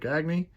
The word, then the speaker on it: Gagne: Greg Gagne. That is how you pronounce it.